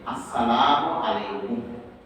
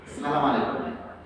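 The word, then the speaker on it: السلام عليكم: সালামের উচ্চারণ অধিকাংশ মানুষ ভুল বলছে, ভালো করে শুনেন। সালাম যেটা আমরা দেবো সেটা হচ্ছে আসসালামু আলাইকুম। ভালো করে শুনেন, আসসালামু আলাইকুম, সালাম আলাইকুম। কিংবা এরকম অনেকে বলছে আসসালাম, এই যাই হোক অনেক রকমই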